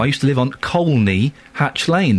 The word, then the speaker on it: Colney: used to live on colney Hatch Lane there's an L in it you pronounce the L col hatch Lane right